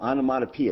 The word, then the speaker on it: onomatopoeia: Onomatopoeia, is that how you pronounce that?